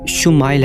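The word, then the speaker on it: ישמעאל: خوشخبری سنا دی گئی۔ عبرانی زبان میں اسماعیل کا تلفظ شمائل ہے۔ شمع کے معنی ہے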